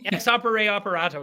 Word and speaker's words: ex opere operato: Opere operando? I was like, you got it right. Okay. Ex opere operato.